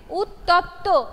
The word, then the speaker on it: উত্তপ্ত: anyone else উত্তপ্ত ইয়েস কেউ একজন ভুল উচ্চারণ করছে এটা সঠিক উচ্চারণ হচ্ছে উত্তপ্ত হর্ষৌ তয়ে তয়ে পয়ে